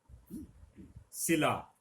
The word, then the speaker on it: सिला: शिला, शिला चट्टान के अर्थ में आता है, पत्थर की बनी हुई शिला होती है। सिला, कपड़ा सिला, तो यहां पे सिला और शिला में अर्थ का भी अंतर है, उच्चारण के अंतर, लेखन के अंतर के साथ साथ।